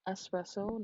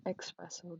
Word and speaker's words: espresso: So just so we're clear, it's pronounced espresso, not espresso. There is no X in espresso.